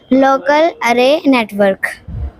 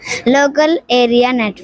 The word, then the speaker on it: local area network: Local array network. Answer सही है लेकिन आप प्रोनाउंसिएशन सही से नहीं कर पा रहे। लोकल Array लोकल एरिया local area network.